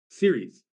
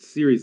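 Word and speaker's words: Ceres: on Caris in space Series so it's c r s is pronounced series like television series oh okay so that's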